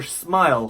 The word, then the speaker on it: smile: Smile.是不是 smile 或者 smell 有发音区别吗？当然是有的。smile 的 I 是长 I smile I smile，但是 smell 的 E 是短的 E 声音smell smell 不是 smell。